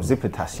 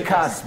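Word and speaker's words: Tsimikas: But, and called him Zipitas. I know. If I was registering that, what did I say? It's a new player. You called it Zipitas, bro. How do you pronounce his name? Simicas, bro. Simicas.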